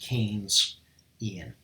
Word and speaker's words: Keynesian: pronounced with Keynes like this okay so you pronounce this Keynes Ian Keynesian alright like that alright so can see